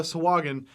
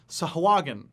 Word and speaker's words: Sahuagin: And today, of course, we're talking about the Sahuagin, or as it's properly pronounced, the Sahuagin. Sahuagin. Frankly, I hate pronouncing it